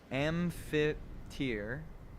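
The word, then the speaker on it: amphiptere: An amp amp ampheter is how that's pronounced.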